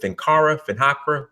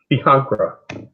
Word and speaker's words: Fihankra: From what you might know more than me, but from what I understand, was it Fincara? Is that how you say it? Fihankra. Right. So Fihankra. So from my understanding, and then you could chime in as I try to explain it.